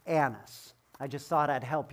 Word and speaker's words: Annas: priest annis and as you're reading it is pronounced annas i just thought i'd help you with some